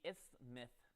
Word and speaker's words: isthmus: You don't pronounce the T? It's just isthmus? Well, that's way easier then. Oh, guys, now we have to find out, do you pronounce the T in isthmus?